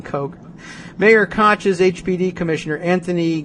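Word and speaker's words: Koch: tax break mayor kotch's remember when we used to pronounce k c as cotch rather than Coke mayor kotch's hbd commissioner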